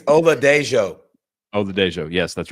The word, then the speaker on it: Oladejo: But hey, can you pronounce the UCLA guy for me? Oda. Yeah, I think it's Oladejo. Oladejo, yes, that's right.